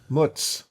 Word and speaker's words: mozzarella: Mozzarella. No. If you're saying it Jersey style. Muts. Muts. You only ever pronounce the first syllable of the word.